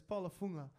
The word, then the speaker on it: Paula Fuga: quick like how do you say it yes Paula fuga yeah so we had a hard time pinning